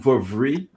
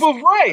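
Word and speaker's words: Vouvray: As you can see, That last word is not Vavri, but he was trying to say. Whoever knows how to pronounce this shit, just pronounce it like. It's Chenin Blanca Vavre. Wait, we gotta ask the Googles. We gotta definitely Google that. I just wanted. I actually just said like a phonetic spelling. You said it right. It's Vavre.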